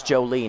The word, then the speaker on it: Jolie: Oh, it's Jolie, not Jolly. I have been mispronouncing that, haven't I?